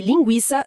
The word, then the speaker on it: linguiça: Historicamente, o trema servia para avisar o leitor de que aquele u deveria ser pronunciado, distinguindo de palavras onde u é mudo, como em guitarra ou águia, certo?